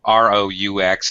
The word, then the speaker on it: roux: R-O-U-X. It looks really weird. So if you see this word, it's pronounced roux, just like R-U-E, which is a totally different word.